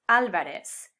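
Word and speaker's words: Álvarez: they're called for so whether it's written with or without the accent this last name would be pronounced alvarez this is a stylistic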